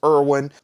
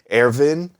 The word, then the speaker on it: Erwin: pronounce it, which is Erwin. But it does deserve a Germanic pronunciation, as somebody pointed out. And if you listen to the pronunciation in the show, it is more like Erwin.